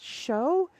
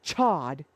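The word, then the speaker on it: Chaud: So I believe it's I believe it was pronounced show. Though to be fair to be fair, the anime always pronounced it chod.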